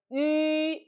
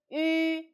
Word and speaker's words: yu: Okay, number three, the syllable begin with yu, yu. So remember, in finals, yu and the e is best friend. So if a syllable begin with yu, no matter follow other final or not, like yu, yue, yun, yuan, just add this e before and the two dot disappear.